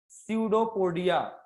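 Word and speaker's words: pseudopodia: अब इसमें P silent है, बहुत से लोग इसको पिस्यूडो पढ़ लेते हैं। सो प्लीज पढ़ते समय ध्यान रखो, इसको क्या प्रोनाउंसिएट करोगे आप लोग? स्यूडोपोडिया। इसको पिस्सू मत बोल देना, कान वाला पिस्सू नहीं, बोल दो पिस्सू पोडिया।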